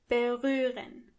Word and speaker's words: berühren: berühren Excellent. Let's read it together. Ich berühre. With this verb, you have to keep two things in mind. First of all, the ha is silent. berühren The second thing is